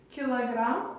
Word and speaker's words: килограмм: En russe, on va dire Я хотел бы купить килограмм яблок. Comme vous pouvez voir, kilogramme, on dit presque pareil, c'est kilogramme, on dit kilogramme.